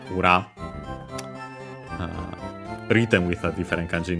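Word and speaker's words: 裏: Ura on its own, nowadays accent on the last mora, ura.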